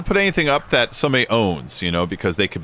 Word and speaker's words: pwn: I'm so old, they used to say pwn own, even though it's spelled with a P. Nobody says it right anymore. You're supposed to still say own, even though you write down the P.